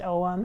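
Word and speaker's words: Ogham: talk about these this is an oem it's pronounced om it's spelt ogum oghm it's a celtic tool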